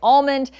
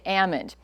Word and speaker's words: almond: say Ammond um because after the L is knocked out of it it's amond and not definitely not